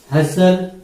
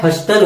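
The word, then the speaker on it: hustle: में L, walk में एल, उसके बाद में हसल, ठीक है। तो टॉक, वॉक, हसल, इसमें जो है एल, ये क्या है?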